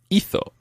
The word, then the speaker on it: hizo: And he, she, or it did is hizo. Hizo. Hizo. Hizo. And that's spelled H-I-Z-O.